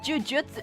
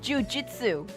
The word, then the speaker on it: jujitsu: No, not jujutsu. Jujitsu.